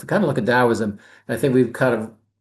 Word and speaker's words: Daoism: it or not, for no matter how it's spelled, it's typically pronounced Taoism.